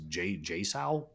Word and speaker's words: JSAUX: JSAUX, but it's all caps. It is JSAL.